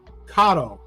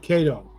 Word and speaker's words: Kato: Kato is actually pronounced Kato. Not Kato, Kato.